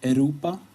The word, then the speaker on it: Europa: And a lot of Europas, or Europa, as we say in Sweden.